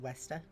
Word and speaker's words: Vesta: Vesta should also be pronounced Westa.